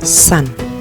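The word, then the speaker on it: 산: Karena dia S, siot ini terletak di depan, dia bunyinya S. S digabung dengan A dan N, maka bunyinya san.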